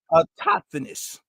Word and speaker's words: autochthonous: And boy, I just feel like I'm mispronouncing. It's autochthonous. Okay, y'all know, just a tongue twister.